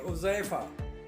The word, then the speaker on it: حذیفہ: नाम है उज़ैफ़ा। उज़ैफ़ा नाम का स्पेलिंग है HUZAIFA।